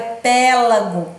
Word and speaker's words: pélago: não é árabes e não é p Lago é pélago tela logo não é